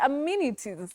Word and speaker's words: amenities: it all wrong yes we normally say amenity or amenities so it's amenities that's a surprise you